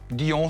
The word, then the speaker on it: Dy'On: Alors, votre société s'appelle Dion, comment on le prononce? Dion, ça me va très très bien.